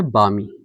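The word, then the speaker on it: balmy: ये है बामी। बामी इसे पढ़ेंगे। बाद में लिखेंगे। लेकिन जो एल है वो साइलेंट है।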